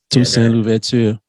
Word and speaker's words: Toussaint Louverture: Toussaint Louverture.